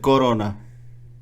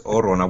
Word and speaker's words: Orona: I thought you said Corona. No, it's Orona without the C.